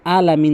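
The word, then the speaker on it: العالمين: আলহামদু না হয় রব্বিল আলামিন যেন না হয় বলতে হবে আলামিন এবং এখানে অবশ্যই তিন আলিফ টানবেন মিন তাহলে প্রথম আয়াতটি ভালো করে বারবার প্র্যাকটিস করবেন আলহামদুলিল্লাহি রব্বিল আলামিন এরপর পরে আসুন আর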